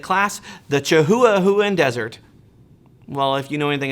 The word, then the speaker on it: Chihuahuan Desert: It's actually pronounced Chihuahuan Desert.